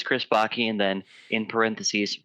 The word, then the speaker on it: Backe: so uh but yeah my last last name is pronounced baky it rhymes with hockey and what I've actually